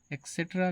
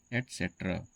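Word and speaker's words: et cetera: तो इसे हम लोग कई बार एक्सेट्रा कह देते हैं। एक्सेक्टरा लेकिन आपको यह मालूम होना चाहिए कि यह एक्सेट्रा नहीं है। यह इसका गलत प्रोनाउंसिएशन है। इसका सही प्रोनाउंसिएशन होगा एसेट्रा।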